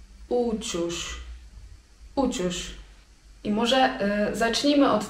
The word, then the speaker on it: uçuş: Natomiast lot samolotem to uciuś. Uciuś.